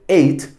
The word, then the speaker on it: ate: La pronunciación de ate, básicamente como el número 8.